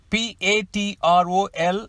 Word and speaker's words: patrol: P-A-T-R-O-L is pronounced as patrol, which means a group of guards on policing duty around the town.